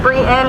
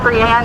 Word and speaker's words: Brienne: It's pronounced Brienne, not Brienne. If you know me, you'll pronounce it correctly.